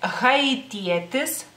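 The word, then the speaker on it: haitietis: Y es haitietes, haitietes, la H se pronuncia.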